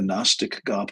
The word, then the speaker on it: Gnostic: uh, we've discovered the Gnostic gospels, and that's spelled with a G, G N O S T I C.